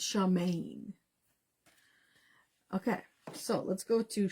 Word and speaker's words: Samhain: it out okay um Shaman that's how you pronounce it right Shaman cuz it's not Shaman it's Shaman okay so let's go